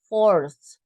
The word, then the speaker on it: fourth: So it's not four, it's fourth, right? Fifth, sixth, seventh, eighth, ninth, 10th, 11th, 12th, 13th, 14th, 15th, 16th, etc. And 20th, 30th. Okay, so please be careful that you pronounce this ending.